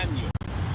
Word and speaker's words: año: So, year in Spanish is Yeah. año. Annual. It's spelled A-N-Y-O, and the N-Y is an N with a little squiggly on top.